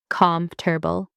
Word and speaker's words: comfortable: Most people say comfortable with 4 syllables, but native speakers say comfortable, just 3 syllables. Drop the or.